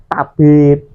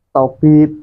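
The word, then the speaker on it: طبيب: Dalam bahasa Indonesia suara T biasanya diucapkan lebih ringan dan tidak emfatik seperti tabib, tobib gitu.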